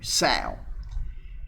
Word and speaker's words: sow: mature female pig is a sow okay s-o-w sal a young female pig is a guilt g-i-l-t